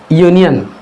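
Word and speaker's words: union: क्योंकि इसका प्रोनाउंसिएशन, इसका उच्चारण हो रहा यूनियन या से होता है, ऐसे होता है ना, या से।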